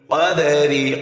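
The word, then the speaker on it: قَدْرِ: পরে ইয়া সাকিন লিন হরফ তাড়াতাড়ি হবে লাইলাতুল কদরি কদারি কাফ দাল জবর কদর দাল কল হরফ প্রতিদ্বনিক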